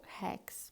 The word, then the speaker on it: Rex: Rex, la R al principio y cuando es doble se pronuncia como J. Entonces, Hotel Rex.